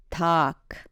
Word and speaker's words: 닭: In this particular case, 닭 is pronounced as 닭, following the second consonants.